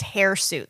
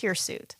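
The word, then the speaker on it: hirsute: It's not pronounced hairuit though. It's here suit.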